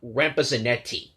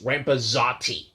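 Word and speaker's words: Rampezzotti: wager videos i've been calling rick's last name rampa zanetti turns out it's rampazoti r-a-m-p-e z-z-o-t-t-i and rampa zates if you're out there listening i apologize for constantly getting your last name wrong it's just when i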